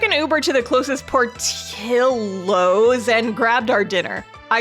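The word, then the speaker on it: Portillo's: my southern ass is so used to seeing something with two L's next to each other and reading it like a Y because that's how it is in Spanish.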